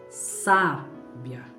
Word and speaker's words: sábia: Vou colocar na primeira vogal A. Ficaria sábia.